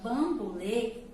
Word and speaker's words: bambolê: Bambolê, lê, já é um som fechado.